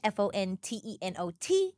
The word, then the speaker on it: Fontenot: fo o n t n o t the t is silent um that's me on